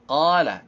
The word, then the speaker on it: قال: Qala. Qala, di sini qafnya harus dibaca qala. Dan ingat, setiap isti'alah yang mengandung o, itu tidak membulatkan bibir. Jadi tetap biasa aja.